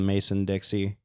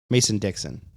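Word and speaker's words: Mason–Dixon: Anytime I go to a gas station south of the Mason Dixie, I think that's how you say it, right? Mason Dixie. Yeah. I thought it was Dixon. Mason Dixon. Yeah, that's got to be it.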